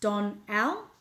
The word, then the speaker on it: Donnell: Donnell says, I'm a girl, pronounced Don Al. Crazy parents, Don Al.